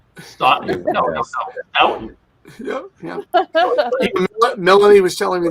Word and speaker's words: Stoughton: Tufton, they call us Tough Town occasionally. Drop the S.